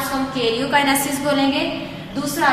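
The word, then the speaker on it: karyokinesis: ठीक है, इसको क्या प्रोनाउंस करेंगे? कैरियोकाइनेसिस।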